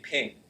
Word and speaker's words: PNG: GIF is a second one, or GIF, pronounced both ways. And the third one I heard, Well, I said PNG. yeah, PNG, ping.